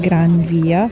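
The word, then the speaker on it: Gran Vía: Spanish, if an N is followed by a V, N is pronounced as an M, and V is pronounced as B.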